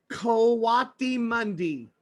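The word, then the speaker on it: coatimundi: he is a coati Mundi. A coati mundi. I'm gonna spell it for you, so you can look it up next time you're at the library.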